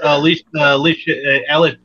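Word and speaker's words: Elisheba: She has Alicia That's how you pronounce it.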